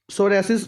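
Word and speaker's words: psoriasis: है ठीक है जी इस तो इलावा वर्ल्ड सोसिस डे पी साइलेंट उ सोसिस एक बीमारी है स्किन डिसीज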